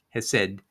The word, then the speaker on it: Hesed: iteration in the Wikipedia, it's spelled Chesed, but it's Hesed, or at least that's how it's pronounced.